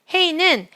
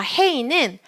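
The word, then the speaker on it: הא: 괄호 안에 헤이 쓰시고요 헤이는 모음보호를 가지지 않으면서 단어의 끝에 올 때는 발음하지 않습니다 한번 더 헤이는 뒤에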